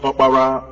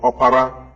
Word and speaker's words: Opara: The name Oprah, as pronounced by Americans today after the woman known as Winfrey Oprah, is also a name among the Igbos pronounced Opara or Opara, meaning the first son of a family.